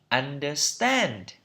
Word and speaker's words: understand: Trọng âm ở tiết thứ 3 đây. Understand, understand.